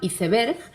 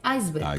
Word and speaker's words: iceberg: En España se pronuncia leyéndolo tal cual, iceberg, y en América se pronuncia reproduciendo la pronunciación del inglés, iceberg.